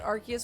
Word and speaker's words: Arceus: I say Suicune with a soft C, but Arceus with a hard C.